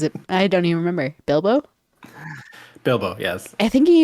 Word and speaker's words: Bilbo: also botched the pronunciation is it Bilbo it is it's Bilo baggin I think I kept calling it biblo or something like that like biblio like back in like Spanish 101 but like Olivia my